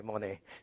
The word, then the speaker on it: Monnet: Monet. I was wondering whether it was. Okay, Monet. Thank you. It's like a painter. Okay. But the extra N bothered me here.